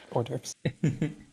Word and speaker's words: hors d'oeuvres: Hors d'oeuvres. The H is silent. Hors d'oeuvres.